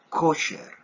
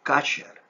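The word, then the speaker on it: כשר: debe de pronunciarte es kasher. Kosher es más utilizada en el vocabulario ashkenazita de los hermanos yahuditas ashkenazim. Y es la que más se tiende a decir. Pero la pronunciación más adecuada sería kasher.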